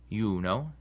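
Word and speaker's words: Iuno: If a word begins with an I and the next letter is a vowel, like in these words, it's actually a consonant and sounds like our Y. So these are pronounced yam, yuno, and yaktatus. Also, when the I is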